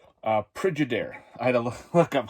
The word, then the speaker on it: Pridyider: And the film we were talking about is called Pridyider.